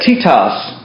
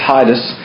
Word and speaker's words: Titus: the bag he let titas go that's the way it sounds in Greek but we pronounce it Titus but tias is how it Sams and um this is